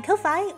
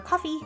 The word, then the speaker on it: Ko-fi: also the link to my Kofi or coffee, however you prefer to say it, character growth. I'm not dying on the hill that it's pronounced Kofi like Loi anymore, but I have